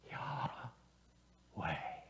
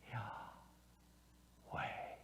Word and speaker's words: Yahweh: long time ago that the letters YHWH represent breathing sounds. Think about that. In other words, when we pronounce the name of God, either with or without the vowels, it actually sounds like breathing.